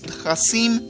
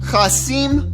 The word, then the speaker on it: Qassem: Qassem Soleimani. You gotta add that phlegm, which is appropriate because when I hear about him, I want to gag on my own vomit.